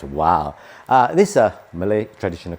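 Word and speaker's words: wau: Literally is pronounced wow.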